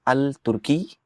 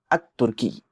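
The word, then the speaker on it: التركي: तो आप यह नहीं कहेंगे अल तुर्की आप कहेंगे अ तुर्की अल सौब नहीं कहेंगे अऊब कहेंगे अल दर्स नहीं कहेंगे अदर्स कहेंगे तो आप पूछेंगे कि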